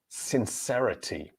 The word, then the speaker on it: sincerity: Now here, the letter C in the word is pronounced S, the same as the letter S at the beginning of the word, sincerity. And sincerity, stress syllable on the third, since, and since the second syllable, sincerity.